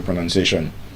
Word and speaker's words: pronunciation: The verb is pronounce, N-O-U-N. But as a noun is pronoun, N-U-N. There's no O in the spelling of pronunciation, but there's O in the spelling of pronounce.